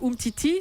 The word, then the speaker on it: Umtiti: la suspension d'Adil ramil défenseur des Bleus Samuel Umtiti c'est ça on le prononce comme ça Titi devrait être titulaire pour